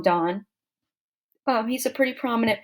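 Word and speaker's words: Donne: uh by John Dawn some people Miss pronounce his name John Don it's John Don um he's a pretty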